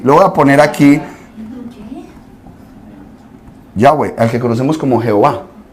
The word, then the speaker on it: Yahweh: Esta es la forma de yo pronunciar correctamente Yahweh.